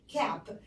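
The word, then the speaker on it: cap: ا كاب كاب، وخلي بالك من البي تقيله لازم منطقها كاب، انما لو قلت كاب يعني كلمه تانية خالص مش مستحب انك تعرفها.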